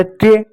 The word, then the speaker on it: tray: दिए, तो हो गया ट्रे, वाई साइलेंट रहेगा। ठीक है, ए के बाद जब भी वाई आए तो वाई आप हमेशा साइलेंट करेंगे।